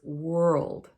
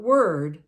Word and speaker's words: world: is the word world it's sometimes easy to say it more like word but they're very different the world has that L in it and we almost make it sound like three syllables world world but we run it together so it's world not word it's a different word world so make sure